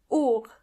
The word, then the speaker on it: Uhr: Uhr means clock, and the H in this case is silent. Uhr.